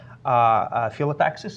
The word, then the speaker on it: phyllotaxis: Actually, Chris had a blog a little bit a while ago about spiral phyllotaxis, is pronounced like this.